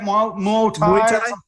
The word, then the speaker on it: Muay Thai: Muay Thai.